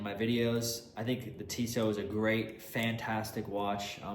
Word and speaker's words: Tissot: I think it's Tissot, that's how you pronounce it.